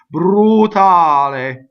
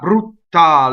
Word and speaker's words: brutale: there and fix that it's one T brootal a not brutal and I i see